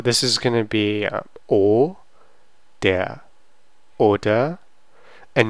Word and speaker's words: oder: Ist Paul Student oder so this is going to be o, der, oder, and normally it's going to be pronounced as oder.